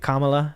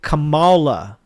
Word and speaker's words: Kamala: They don't say Kamala. They say Kamala. They say it with like emphasis, right?